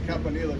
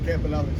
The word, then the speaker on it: Campanile: How do you pronounce it versus Well, in Italian it's Campanil, but yeah, but everybody says Campanelli.